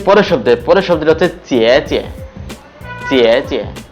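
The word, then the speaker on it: 姐姐: পরের শব্দটা হচ্ছে চিয়ে চিয়ে, চিয়ে চিয়ে। প্রথম চিয়ের মধ্যে আছে থার্ড টোন এবং পরের চিয়ের মধ্যে হচ্ছে নিউট্রাল টোন।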